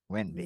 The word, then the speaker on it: Wende: But my name is spelled differently. It's spelled Wende. Yeah. But I was born Wende. Wende, and that's something. And that's like the French spelling, kind of. Yeah, Wendy.